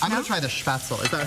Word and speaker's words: Spätzle: I'm going to try the spätzle. Is that how you pronounce it? Yeah, spätzle.